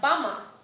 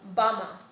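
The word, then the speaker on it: bama: A is like bummer, like Aboriginal person, bummer.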